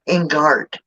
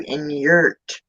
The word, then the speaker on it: Ingart: they came to America, they pronounced her last name or the family name Ingart. Well, apparently people were having trouble with pronouncing Ingart, so they changed it to Inyurt.